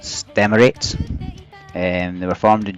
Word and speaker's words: STMLT: H they're called St MLT uh which is pronounced States and they were formed in June 2022 H